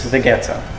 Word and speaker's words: Vegeta: This seasoning is vegeta. And I know a lot of people say I pronounce it wrong, but that's the way you pronounce it where I come from Slovakia.